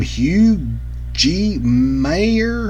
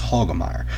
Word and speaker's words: Hagemeyer: pronounced his name because I look at his name look what Tim Hugh gee mayor huh no it's Hagemeyer Tim Hagemeyer another can't run